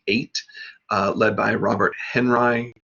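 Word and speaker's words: Henri: uh led by robert henry asked people to pronounce the name to rhyme with buckeye so henry there were of course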